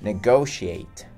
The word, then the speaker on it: negotiate: Negotiate, que é negociar. Atenção aí para a pronúncia, né? Negotiate. Esse T, né? Esse primeiro T tem tipo um som de CH, né?